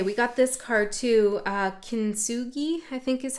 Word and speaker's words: Kintsugi: Kintsugi, I think is how you say it.